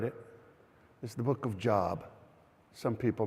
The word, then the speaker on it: Job: is the book of Job. Some people mispronounce it as Job. No, it's actually Job. It's actually It's actually Yove in uh in Hebrew.